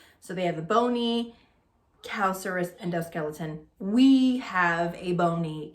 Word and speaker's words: calcareous: So calcareous sounds like calcium, and that's exactly what it is.